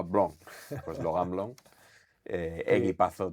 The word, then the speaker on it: Blanc: Yo no hablo nada de francés, pero él decía cuando llegó a Barcelona le llamaban Blank, decía que él no se llamaba Blank, se llamaba Blon.